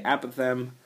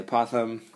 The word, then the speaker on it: apothem: it's a weird word sounds like a possum like the animal but it is not that so this is how it's spelled apoem some people say apem I say aoam you say tomato I say tomato right same same difference